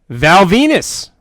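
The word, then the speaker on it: Val Venis: get a vignette for Val Venus rhymes with penis new uh new character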